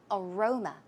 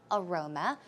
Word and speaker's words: aroma: before right so aroma as you can see the stress goes on the second syllable aroma aroma some synonyms are sent